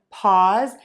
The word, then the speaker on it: pause: vibrating and moving z what happens when we have a voiced sound that ends a word I've gotten a few questions about this lately is that the voice sound is actually going to make the vowel before it sound a little teeny tiny bit longer so this vowel might sound a little bit longer in pause that doesn't pass and that's because of the voicing on that Z sound let's try both of